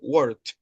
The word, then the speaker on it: worked: La pronunciación de la ed es como T en ese caso, worked.